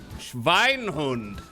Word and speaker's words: Schweinhund: Also, W is pronounced like V in German. V sounds like F. Schweinhund. There we go.